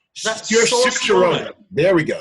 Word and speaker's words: Saoirse Ronan: Saoirse Ronan. There we go. Saoirse Ronan.